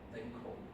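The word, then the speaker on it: Lancôme: student, he's a girl, and he is organized Lancome.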